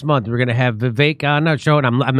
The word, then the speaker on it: Vivek: Hey, there's another clip of Vivek. That's how you say his name, like stomachache. Vivek Ramaswamy.